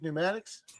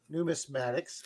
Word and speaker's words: Numismatics: Good evening, Maple Leaf Pneumatics. Numismatics. Let me pronounce that correctly.